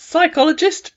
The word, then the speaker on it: psychologist: you go to a I don't know how you'd pronounce that psychologist but no p on the beginning who can help you